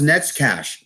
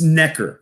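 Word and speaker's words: Neckář: Hey, my name's Netskash. No, it's Necker, okay? Necker. Yeah. Neckar. Necker. Okay?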